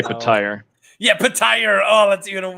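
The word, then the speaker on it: Petyr: Who here says Peter Baelish? Because those people are wrong. Yeah. I say Petire.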